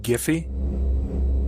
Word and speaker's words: GIF: you guys know that that website Jiffy uh g y yeah the Creator pronounces it gify yes what an idiot